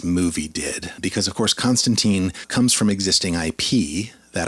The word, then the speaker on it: Constantine: for a while uh the character of John Constantine or actually more properly it's pronounced John Constantine in the comics canonically this is a character